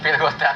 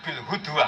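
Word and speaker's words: بالغداة: Nah, karena tulisannya ada wawu, ada ulama yang baca bil hudwah. Nah kita tetap baca bil ghadat.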